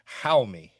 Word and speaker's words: Jaume: His name is pronounced Jaume. Jaume. Okay. Jaume.